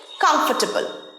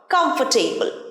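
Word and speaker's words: comfortable: দেখে নি চলো পরের ওয়ার্ডটা হচ্ছে কমফোর্টেবল, আরামদায়ক। কমফর্টেবল নয়, কমফোর্টেবল, আরটা উচ্চারণ হয় না।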